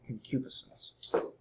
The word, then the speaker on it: concupiscence: using the King James make sure you can pronounce that word okay can cubist us also make sure that you don't miss pronounce